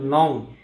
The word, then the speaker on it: নঞ: শব্দ দেখি, সেটা হচ্ছে নং। অনেকে এটাকে ভুল করে উচ্চারণ করে নইও বা অন্য কিছু নানা রকম উচ্চারণ করে। আসলে শব্দটার উচ্চারণ নইও হবে না, এটা হবে নং অথবা নই।